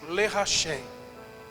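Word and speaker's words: לרחם: Eu quero trazer à memória Algo que nós aprendemos aqui na terça-feira, eu falei acerca de uma palavra hebraica que pronuncia-se Lerachem.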